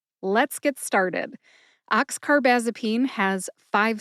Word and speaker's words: oxcarbazepine: All right, you put all five syllables together and you get oxcarbazipene. Emphasize ox and baz. Baz gets the most emphasis.